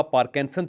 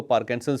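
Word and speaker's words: Parkinson: में लेकिन इसे लिखा पार्किंसन चाहता है और बहुत सारे लोग इसको पार्किंसन भी कहते हैं मैं खुद पार्किंसन कहता हूं अक्सर लेकिन ये बीमारी असल में पर्किंसन है आर इसके अंदर साइलेंट है अब सवाल यह है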